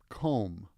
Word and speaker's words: comb: yikes okay comb over comb comb over remember in the word comb the B is silent um comb over means